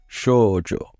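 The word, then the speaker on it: 少女: Shoujo. I think I tend to forget the u in the middle as well, which might have been what happened here.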